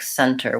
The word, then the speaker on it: center: pronounce T letter like center with silent T Center I actually say the T sound and Center center Center well sometimes I don't I guess the center of the circle or the center of